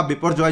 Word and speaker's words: Biparjoy: नाउ बिपोरजॉय का pronunciation लिखा बिपोरजॉय जाता है, बोला बिपोरजॉय जाता है, बांग्लादेशी वर्ड है।